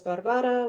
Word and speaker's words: Barbara: But uh my name is pronounced as Barbara with the stress on the second syllable.